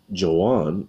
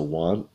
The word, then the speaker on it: Juan: you might look like Joanne maybe because it has a j but in Spanish any J sounds you should pronounce with an H so I learned this